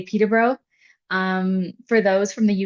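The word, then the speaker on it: Peterborough: So, the way that we pronounce it is Peter Bro.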